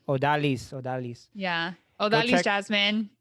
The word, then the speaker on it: Odalys: uh how do you say your first name odalay odalis odalis odalis yeah oh that jasmine either one go